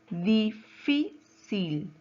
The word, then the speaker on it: difícil: Difícil. ¿Dónde lleva la mayor fuerza de voz? Difícil. En fi, ¿verdad? Muy bien.